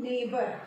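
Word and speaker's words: neighbour: N E I G H, नेघ नहीं है ये, इसका प्रोनंसिएशन है नेबर, थोड़ा सा ट्रिकी है, आप प्रैक्टिस करेंगे तो आएगा।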